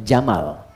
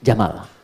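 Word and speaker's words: جمل: Jika dia pakai jenis gender dia jantan maka namanya jamal. Saya notis ya pendek bacanya. Jamal bukan Jamal.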